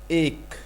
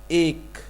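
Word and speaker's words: ایک: In the last we say k.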